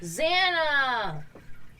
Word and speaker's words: Xana: what's this about xanax it's definitely how it's spelled for the lyoko yeah zana yeah that's what we said it i didn't click immediately and you said it weird zama it's it's how it's always been pronounced i don't know i